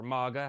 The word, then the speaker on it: Mega: And last item from my Shelton trip is Mega. This is, or MAGA, however you want to pronounce it. I say Mega.